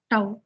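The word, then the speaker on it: tau: with a Greek letter this letter we pronounce it as to right to is equal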